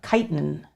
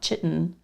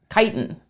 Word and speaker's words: chitin: Chris Seidel very helpfully has corrected my pronunciation of chitin not chitten look I applied the Google and it did not treat me right chitin that's why we still